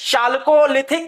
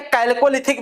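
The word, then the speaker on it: chalcolithic: निम्नलिखित में से किसको चालकोलिथिक युग, चालकोलिथिक या कैल्कोलिथिक भी कहा जा सकता है? आप चालकोलिथिक कहिए चाहे कैल्कोलिथिक कहिए, प्रोनाउंसिएशन आपको ही करना होगा, जिस प्रकार से चाहे उस प्रकार से करें।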